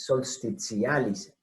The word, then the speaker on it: solstitialis: Bueno, entonces, esto que viene de solsticio, solstitialis. Ahí pronuncié levemente mal porque es solstitialis. Y con A no es un diptongo.